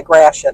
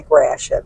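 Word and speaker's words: Gratiot: which is if you're familiar with the area graet although on when you call information they call it grat it's French g r a t i o t but it's pronounced graet my kids loved it because we live by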